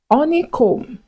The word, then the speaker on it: honeycomb: Honeycomb, honeycomb. So you need to learn how to pronounce these words naturally without the B.